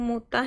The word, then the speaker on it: mut'ah: marilah supaya kuberikan kepadamu mutah dan aku ceraikan kamu. Bacanya mutah kepadamu mut'ah dan aku ceraikan kamu dengan cara yang baik.